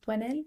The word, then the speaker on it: Doynel: It's actually French. It's pronounced Doynel, but that's how you go to the website.